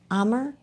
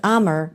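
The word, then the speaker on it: Amur: Louis Zoo just welcomed two adorable and critically endangered uh how do you say emmer? A m u r leopard. No, it's Well, it's Ammer.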